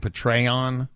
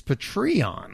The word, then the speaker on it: Patreon: whole bottle good luck apparently I have been saying Patron yeah it's patreon patreon like patrons I guess well that's what